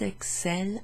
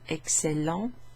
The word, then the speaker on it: excellent: So this adjective excellent, you pronounce the final ent as an en sound, but in the verb, in the they form, the ent is just not pronounced.